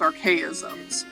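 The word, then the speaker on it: Archaisms: looked familiar that's cool they're called they're actually pronounced archaeisms archaeisms yeah Arc systems yeah yeah it's a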